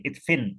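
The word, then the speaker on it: ادفن: Jadi di sini kita membacanya di sini adalah pakai harokat kasroh di sini. Idfin.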